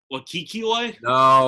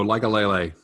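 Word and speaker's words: Likekele: Lakikile? No, like a lele. Okay, close enough. Like ukulele? No, sort of, yeah.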